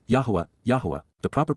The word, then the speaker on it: Yahweh: advice please be aware and then W Yahweh Yahweh the proper pronunciation of the name of yoah God as